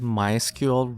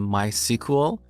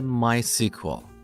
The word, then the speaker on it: MySQL: as a software product developers of this product prefer to call it mysql rather than mysql but they don't mind if we call it my sequel in this course i'll